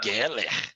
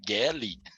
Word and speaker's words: Gelli: E o Antônio fala Geller. Onde você arranjou esse R no meu nome, Antônio? É Gelli.